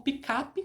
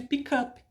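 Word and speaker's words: pickup: Então, em inglês, eu não sei porque aqui no Brasil é mais pronunciado como picape, como se fosse com A, né, ao invés de pick up, que seria esse phrasal verb, pick up.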